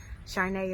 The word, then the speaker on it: Charnay: Charnay is my name, but I spell it phonetically Sharnay, but it's actually spelled Caarne.